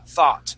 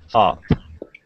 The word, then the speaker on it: thought: going to be thought now that o u g is going to make an a sound thaw thought try that thought good nice job all